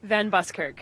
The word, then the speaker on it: Van Buskirk: excited i met a celebrity here okay kate pronounced your last name for me van buskirk van buskirt from the commonwealth games and you